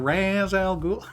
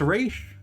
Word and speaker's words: Ra's al Ghul: all the nerds like that's not how it's pronounced. Yeah, it's not. It's Raish. I'm pretty sure. I'm not totally certain though.